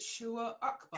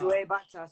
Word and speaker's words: Shoaib Akhtar: I don't know how to pronounce that. How do you know, what is it, Shua Akbar? Shoaib Akhtar.